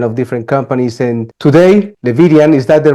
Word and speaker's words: Levidian: And today, Levidian, is that the right way to pronounce?